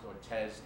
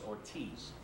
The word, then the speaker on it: Ortiz: Darwin Ortiz he does his name is not pronounced Ortez it's Ortiz Darwin Ortiz and if you've never seen D